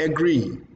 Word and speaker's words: agree: And then you have the word agree. Agree, not agree like we call it. It's agree. Do you agree with me? Yes, I agree with you. Agree is stressed.